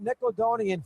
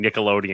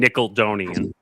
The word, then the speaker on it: Nickelodeon: So that that's him mispronouncing Nickelodeon and saying Nickeloonian.